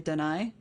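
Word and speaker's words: D'ni: So yeah, so if I pronounce it, sometimes I'll say Dunny just because it's an old habit. Other times I'll say Dunai, if I remember that.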